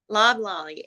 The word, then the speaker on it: Loblolly: Pronounce it for me. Loblolly.